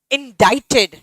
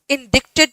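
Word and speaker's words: indicted: इन इंडाइटेड. इंडिक्टेड नहीं होता, इट्स इंडाइटेड.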